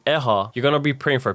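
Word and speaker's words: ʻehā: Another great example, eha means the number 4. If not said correctly and pronounced as eha, eha means pain, painful, or injury.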